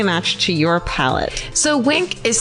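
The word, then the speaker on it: Winc: So Wink is spelled W-I-N-C, and it works directly with winemakers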